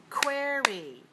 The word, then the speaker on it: query: down 4-2 number three query quy query quy query has two syllables and it's dressed on the first one so two- one number four is the